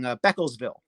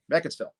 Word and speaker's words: Beckettsville: I always say it wrong. Beckelsville, right? Beckettsville. But yeah, that's the Walmart I usually stop at a few times a year.